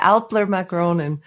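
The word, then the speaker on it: Älplermagronen: Alpine macaroni, I'll let you pronounce it in German. Yeah, Alplermagronen.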